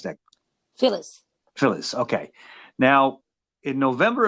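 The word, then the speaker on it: Philles: signed to phil spector's label phil phillips reckons phillies or phyllis how do you pronounce nick phyllis phyllis okay now in november of 61 they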